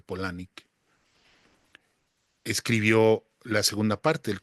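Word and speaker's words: Palahniuk: Palanuk se escribe, se dice Polanic, escribió la segunda parte, el Club de la Pelea, que es una novela gráfica.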